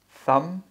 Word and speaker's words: thumb: So silent B in all cases. Debt. Oh, debt. Doubt. Doubt. Thumb.